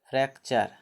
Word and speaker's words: fracture: जैसे जैसे FRACTURE, अंत में यू आ रही है ना, FRACTURE, इसका उच्चारण क्या होता है? फ्रैक्चर।